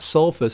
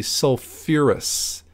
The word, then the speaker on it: sulfurous: phosphorus containing acids too we actually stick an extra syllable on there to make it sound a little bit better so it's not selfless it's actually sulfurous acid so the that same